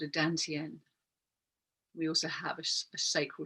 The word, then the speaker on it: dantian: We're tuning in with this rechargeable battery unit in our belly called the dantian, D-A-N-T-I-E-N, or sometimes it's spelled T-A-N, tantien.